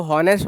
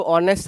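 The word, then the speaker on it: honest: ऑनेस्ट पढ़ते हैं इसको, हॉनेस्ट, हॉनेस्ट बच्चा पढ़ता है, ठीक है, जो कि यहाँ एच साइलेंट आपका हो जाएगा। सेम उसी वर्ड से बना है, तो अपराइट का मतलब ऑनेस्ट था, तो अपराइटनेस का मतलब क्या हो जाएगा?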